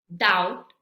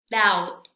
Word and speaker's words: doubt: Bien, tenemos la letra B y en estas palabras no se pronuncia. Vamos a repetir. Dead, dead, doubt, doubt, subtle, subtle, bomb, bomb, climb, climb.